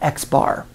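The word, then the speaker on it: x̄: m to signify that sometimes we also use an X with a bar over it and we pronounce that X bar so a little bit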